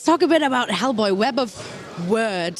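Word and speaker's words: Web of Wyrd: Hellboy web of words so first of all it's very important that this is how we pronounce it isn't it so it's there that's the web of word I've had to learn that pronunciation as well I think it's possibly American pronunciation is that right I don't know I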